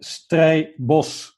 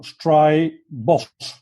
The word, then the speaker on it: Strabosch: My family name is called Strabosch, so Strabosch.